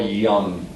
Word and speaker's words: Jung: Carl Jung. It's German. It's German, so you usually hear it pronounced like young with She a.